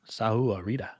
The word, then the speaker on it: Sahuarita: How do I pronounce that? Sahuarita.